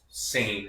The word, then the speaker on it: Seine: Well, first off, the river's pronounced Seine River.